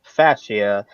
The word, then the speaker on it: fascia: correct pronunciation for for the word is actually pronounced fascia and and NASCAR said that there was material